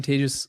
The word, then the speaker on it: Tejas: course cool hi I'm tagus that's pronounced like contagious and in Spanish contagious